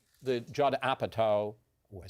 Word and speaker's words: Apatow: Paul Rudd and they're almost like the Judd Apatow I said it right again Repertory company is